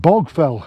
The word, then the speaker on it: Baugh Fell: But yeah, Baugh Fell, or as it's pronounced, should be pronounced, is Baugh Fell, as in like Baugh Fell at Lady Street, B-O-W, which means rounded hill. But a lot of the locals call it Bog Fell, and having traipsed along